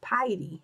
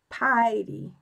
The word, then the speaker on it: Peidi: That's why I call myself Petey. Or I hope I'm saying that right. Am I saying it right? Oh, it rhymes with Heidi, so it's Piety. Okay. Piety.